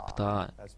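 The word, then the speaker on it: Птаах: был там он встретился с ПТА так произносится его имя это Лидер или один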